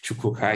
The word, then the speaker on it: Chukwuka: If Chukwuka is a bit difficult to pronounce.